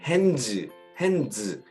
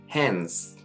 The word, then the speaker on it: hands: 그러면 어떤 사람들 hands 뭐 이렇게 발음이 되지만 발음을 하겠지만 이때는 D 발음을 가감하게 생략을 해주고 hands 이렇게 해주는 게 좋습니다.